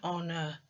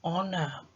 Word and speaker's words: honour: H, it is an honour to be here. Because the letter H in honour is silent, I can only hear the vowel sound. It is an honour.